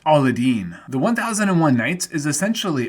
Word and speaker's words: Aladdin: aladdin is also featured in the disney film aladdin which released in 1992 the year prior to